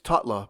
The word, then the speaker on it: Takla: Takla is his mother, pronounced, it's Tutla, but it's spelled Takla.